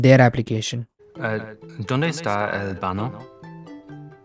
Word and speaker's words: baño: Donde está el baño? The word baño is pronounced ba-ño with a soft ñ sound like in the English word canyon.